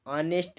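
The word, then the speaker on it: honest: ऑनेस्ट, इसको जब pronounce करेंगे ऑनेस्ट, आ से इसका प्रोनाउंस हो रहा है, तो यहाँ पे आ से प्रोनाउंस होने के नाते यहाँ पे एन भरा जाएगा।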